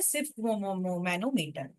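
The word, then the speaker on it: sphygmomanometer: की डिवाइस क्या है सिफ ममनो मटर है सिफ ममनो मटर जी और एच थोड़े से साइलेंट है स्पेलिंग वगर गड़बड़ चलेगा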